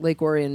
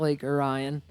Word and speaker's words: Lake Orion: This is we're in Lake Orion, Michigan, which is how you say it, not Lake Orion, like the rest of the world thinks it is.